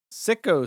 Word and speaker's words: Syko: It's pronounced Syko.